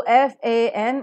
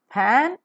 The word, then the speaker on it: fan: be pronounced with violabial it's a labio dental sound so f a n it is not pan it is fan right f i v e it is not 5 it is 5.